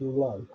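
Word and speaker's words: Luu: It's spelt L-U-U, but pronounced Lo.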